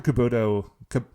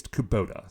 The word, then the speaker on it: Kubota: Caputo Kubota it's Kubota sorry I keep sorry I keep changing the pronunciation every time I say it dr.